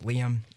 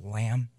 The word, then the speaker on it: Liam: name oh my name real name is Liam and a lot of teachers mispronounce it as lamb so lamb chops okay